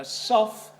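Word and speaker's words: sough: And in case you're unfamiliar with the word, a soff, which is usually spelled S-O-U-G-H, but pronounced S-O-F-F, a soff, is a tunnel which is cut to carry wastewater out of a mine.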